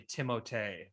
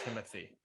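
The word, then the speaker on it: Timothée: it uh someone said it's actually timothee not timothy which i'm sorry you're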